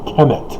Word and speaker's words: Ham: ham in our bible ham is incorrectly pronounced it's kem from the egyptian and so why they